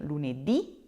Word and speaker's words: lunedì: me saying them, with lunedì, martedì, mercoledì, giovedì, venerdì, so Monday through Friday, you will need to put a little accent on that last letter.